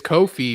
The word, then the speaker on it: Ko-fi: Well, I say it's Ko-fi because there's no fee. That's what Ko-fi says.